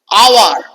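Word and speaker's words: hour: বসাবন আওয়ার এইটুকুর উচ্চারণ হচ্ছে দেখো ও ইউ আর এর এইচ এর উচ্চারণটা হচ্ছে না তাই এখানে বসালাম [গলা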